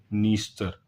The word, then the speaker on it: Dniester: कुछ रिवर अब आपको मैप में दिखाई नहीं देंगी तो उनको लिखना होगा हमें, तो एक है नीपर, डैन्यूब, और एक है नीस्तर। इसका स्पेलिंग लिख लीजिए, DNIESTER, ठीक है।